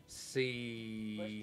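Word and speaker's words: Busch: Was it B-U-C-H-E? S-C-H. S-C-H. Like the beer. Like yeah. Bush.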